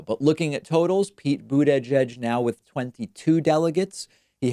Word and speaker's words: Buttigieg: mine, Trump also seems to be adopting my pronunciation of Pete boot edge, edge tweeting quotes, boot edge, edge parentheses.